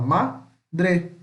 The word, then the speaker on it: madre: Tem duas sílabas, ó. Madre. A gente não fala tudo de madre, a gente fala madre.